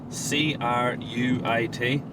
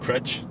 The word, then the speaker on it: Cruit: C-R-U-I-T. But it's pronounced. Crutch. Okay. But Americans pronounce it Cruit.